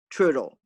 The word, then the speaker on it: Trudel: my grandmother lisette gabert trudel trudeau rhymes with strudel she'd say chucking me